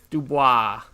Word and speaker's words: Dubois: How do you pronounce his last name, Dave? Dubois.